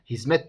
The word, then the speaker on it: hizmet: uyarıda bulunmak istiyorum Arkadaşlar bu kelime Arapça'da dal harfiyle yazılır yani hikmettir fakat biz bunu Türkçede bugün kullanırken hizmet diye telaffuz ediyoruz şirket gibi kelimeleri bakın